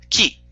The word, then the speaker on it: Qi: By the way, that's called the Key wireless charging system. It's spelled Q. Key, not QI. Key.